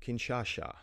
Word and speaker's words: Kinshasa: Kinshasa goes from being unstable to rioting King Kinshasa I'm sorry I pronounced it wrong and I know Dan is